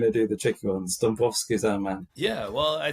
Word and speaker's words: Dąbrowski: Sometimes you see his name as Dąbrowski, like D-A-B, but we looked into it, and he is actually pronounced Dąbrowski, even if it looks like it should be Dąbrowski.